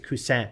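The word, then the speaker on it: Cousin: it the bamboo yeah I was calling it in French because it's spelled c u SS i n and I was saying cusan and then I was dealing with some French people this week and they like actually it's cusan yeah like oh sorry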